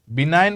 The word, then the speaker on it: benign: Benign বুলি যেতিয়া কৈছো, benign G টো অলপ সাইলেন্ট হয় হা, benign, NIN pronounce কৰা নিচিনা, benign. Benign বুলি ক'লে G টো almost silent হয়, G টো, ঠিক আছে?